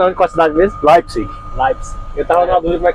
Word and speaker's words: Leipzig: Não, se pronuncia Leipzig ou Leipzig, dependendo da região. Sim. Eu pronuncio Leipzig, Sim. com R no final, né?